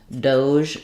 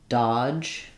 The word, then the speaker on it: DOGE: Some people pronounce that one Doge with the j sound like measure. The O does say O.